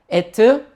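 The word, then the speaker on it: אֵת: 그 다음에 알렙에 지금 점 두 개 에가 있는 거죠. 그래서 이응이니까 에, 그 다음에 타브니까 트. 그래서 여기 그냥 붙여준 거죠. 티귿에 에트.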